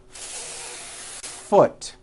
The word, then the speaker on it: foot: you need to do first think of the word is having two beats one to hold the F sound for the first full beat foot like that do it again foot do you see